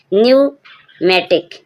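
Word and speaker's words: pneumatic: पी के बाद एन आए जब भी पी साइलेंट रहेगा।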